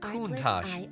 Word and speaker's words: Countach: It is pronounced Countach and simply means wow in Italian.